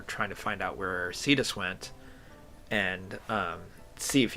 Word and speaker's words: Cetus: And I believe it's pronounced Cedus, Ce Tus, if I remember correctly.